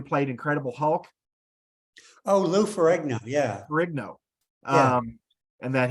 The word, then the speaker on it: Ferrigno: uh Lou I don't know if I can pronounce his last name correctly for nego the guy the man who played Incredible Hulk oh Lou Ferrigno yeah rigno um and that he uh he